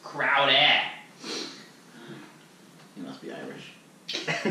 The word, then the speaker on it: Crowder: He's got Chowder and Chowder. It's Crabtree and Chowder. It's pronounced Crowder.